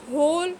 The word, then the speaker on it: whole: Right, whole, wrong, who, writer. In all of these words the letter W is silent.